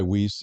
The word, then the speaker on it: Weis: I go by Weiss. It's wrong, but that's what my parents have always used.